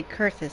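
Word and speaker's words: Coerthas: the people of kurthus as we speak okay curtis that's how it's pronounced yep her appetite for destruction far exceeds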